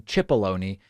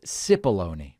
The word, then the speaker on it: Cipollone: counsel, Pat Cipollone, which I last week was pronouncing Cipollone. People very politely corrected me, and they said it is actually only pronounced Cipollone.